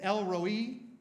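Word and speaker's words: El Roi: the one who sees which means it was El Roy sometimes it's pronounced Elroy I you know in the in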